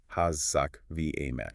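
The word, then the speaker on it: חזק ואמץ: In the Hebrew text, that phrase is kazak we emetz, pronounced Hazak v. Ametz.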